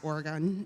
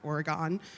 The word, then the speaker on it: Oregon: of Portland Oregon which by the way is pronounced Oregon not Oregon in Portland is in fact a city not